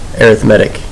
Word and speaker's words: arithmetic: I know that looks like arithmetic, and that's usually how we say it, but when we're talking about sequences, we pronounce it arithmetic instead.